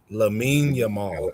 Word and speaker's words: Lamine Yamal: Lamine Yamal.